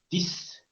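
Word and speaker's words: dix: Y la consonante final puede estar escrita y sonar. Como en la palabra dis. Dis. D y X. Esa X suena como una S.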